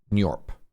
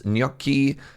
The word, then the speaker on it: Gnorp: I'm thinking of it kind of like the Italian gnocchi, Gnorp. If that's wrong, no, it isn't. What's up, Mahal? Thank you so much for the 89 months. Gnorp Apologue, Analogue.